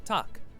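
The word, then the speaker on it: takk: hello in Icelandic is pronounced Hollow thank you is talk yes is yeah no is nay goodbye is bless bless 14.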